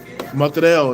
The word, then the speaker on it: Motrel: Motrel is how you pronounce my name.